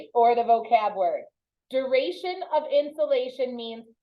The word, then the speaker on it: insolation: time I read it it's not insulation like the pink stuff you put in your attic it's insulation no it sounds similar insulation or insolation yeah it is solar